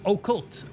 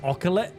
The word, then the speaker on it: occult: Okay, let's do this again, but this time it's pronounced occult. Occult. Thank you. For a while, I thought it was like oculate.